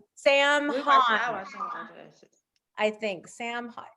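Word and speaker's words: Heughan: Sam Hahn. I think Sam Hahn. And the Hahn is spelled in a weird way, like Haughn.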